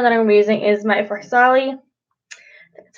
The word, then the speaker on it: Farsali: Okay, so the next primer that I'm using is my Farsali.